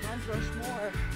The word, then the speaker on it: Mount Rushmore: Mount Rushmore. Ah, ça. Bien prononcé, c'est comme ça. Mal prononcé, c'est Mont Rushmore.